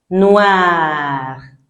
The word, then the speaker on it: noir: Noir. Noir. Noir. Because I sounds what? Oa.